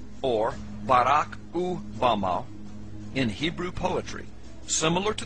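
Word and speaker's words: במה: which Satan fell is Strong's Hebrew word 1116 pronounced Bama Bama is most commonly used to refer to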